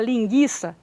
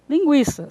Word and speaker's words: linguiça: engraçada a pessoa Perguntar quer dizer que agora eu vou falar linguiça e você vai continuar falando linguiça só que você não